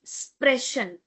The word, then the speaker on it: sprechen: Before ch we have e. So we will be having sh sound and not k sound.